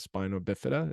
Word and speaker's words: spina bifida: Hey, if you could, I could use an education on the condition of spina bifida.